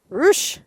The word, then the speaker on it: ruching: Like ruching. Roosh.